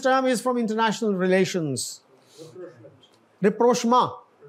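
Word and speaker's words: rapprochement: रिप्रोशमा, French है ये.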